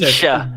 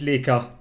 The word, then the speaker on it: Lika: Hello, and It's she says, Leisha. It's "Wow." Leisha. It's Leisha. It's pronounced Leisha. I think we have had feedback from that. That is not. Yeah, it's Lika.